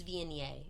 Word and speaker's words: Viognier: It's Viognier, in case you're wondering. It's an A on the end. V-N-A, Viognier.